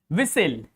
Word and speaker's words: whistle: If T comes just after S, that T is is going to be most probably silent. Hope you will get the point. Like listen. Castle. Castle means fort, a small fort. Whistle. Fasten. In all these words T are silent.